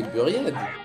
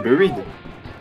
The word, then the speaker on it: Buried: Non, c'est Buriette. Mec, c'est Buried. Ah, vas-y, moi, je la prononce à l'américaine, Buried.